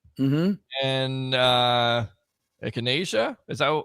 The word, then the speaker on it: echinacea: Vitamin D, Quercetin, zinc, vitamin C, and echinacea. Is that how you pronounce it? Echinacea.